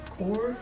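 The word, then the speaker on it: Korres: is just some course i can't decide to pronounce it chorus k-o-r-r-e-s pure greek i love hand cream sea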